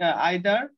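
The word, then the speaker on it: either: দেখো কোনো বাক্যে যদি দেখো each, one of, every, early, আইদার, এটা কি ইদার বলে অনেকে, ইদার বা নাইদার বা নিদার ইত্যাদি দ্বারা যদি কোনো সাবজেক্ট গঠিত হলে সেটি থার্ড পারসন সিঙ্গুলার নাম্বার হয়।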